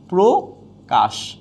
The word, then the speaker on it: প্রকাশ: যাবে ওকার হয়ে যাবে যেমন প্রকাশ হয়ে যাবে কি প্রকাশ প্রবেশ হয়ে যাবে প্রবেশ